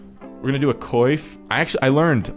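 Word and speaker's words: coif: I actually I learned I learned recently that this is called a qua I don't know why it doesn't share like any letters with what I think qua would sound like but allegedly it does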